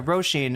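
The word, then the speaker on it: Róisín: Roshene is how you pronounce it.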